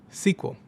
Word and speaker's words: SQL: structured query language, or SQL, which is often pronounced "sequel."